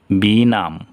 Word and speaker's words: benumb: যেমন এখানে আছে BENUMB, বি নাম, তাহলে এই জায়গায় বি উচ্চারণ হলো না।